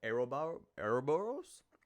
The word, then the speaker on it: Ouroboros: Then we play 2 Magi Magician Gal, followed by Dark Rebellion XYZ, Super Quantum Mecha Beast, Ouroboros, that's how you pronounce him.